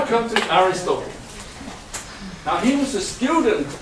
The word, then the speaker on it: Aristotle: the platonic Academy and he is in Greek called Aristotle thank you we have to have the stress on the head on pen ultimate syllable ones Aristotle so you get different